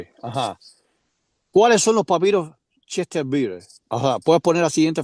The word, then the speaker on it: Chester Beatty: O sea, papiro de Chester Bieter, No sé, Sony, que tú sabes más inglés que yo, ¿cómo se pronuncia? Es Chester Beatty.